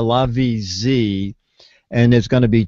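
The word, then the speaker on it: LaVie Z: It's spelled L-A, capital V-I-E-Z. So it's the LaVie-Z, and there's going to be two different models.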